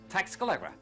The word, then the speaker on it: Tlaxcala: Only who can pronounce this name? I mean, it's Tlaxcala.